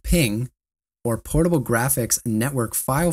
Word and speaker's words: PNG: the dot PNG pronounced ping or portable graphics Network